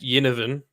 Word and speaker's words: Ginnivan: I don't know if it's a soft G or a hard G, so I'm just going to say Ginnivan. Jack Ginnivan is a soft G.